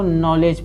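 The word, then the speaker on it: knowledge: इसको नॉलेज पढ़ेंगे, के साइलेंट, यन से पहले के आया साइलेंट होगा, नॉलेज।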